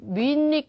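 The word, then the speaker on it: Munich: 꼭 기억을 해 주시고요 토익에서 좋아하는 도시 이름이 미닉 이죠 미닉 미닉 그래서 민이에요 우리나라말로 발음으로 해본다면 헨이 또 미헨 말고도 미닉이라는 발음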